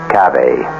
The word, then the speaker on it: cave: For myself, I equate cave with a Latin word spelled the same way, cav, but pronounced cave.